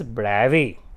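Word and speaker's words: Bravais: and this 14 bright lattices are called as BRABUS lattices in remembrance of the great french physicist and mathematician called as august breve right so this is correctly pronounced as bravi it's he's a French so brings French have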